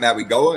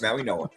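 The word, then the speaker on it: Mauigoa: Again, still trying to figure out where the N is in his last name and why it's pronounced that way. But okay, it's not Maui Goa, it's Maui Noah.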